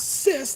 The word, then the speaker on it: cis: by a cis man it's pronounced as cis like sis as in sister so why does there